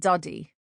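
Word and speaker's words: Dadi: Keziah always laughs at the fact that a nana is a man and a daddy is a woman, but it's actually pronounced nana and duddy.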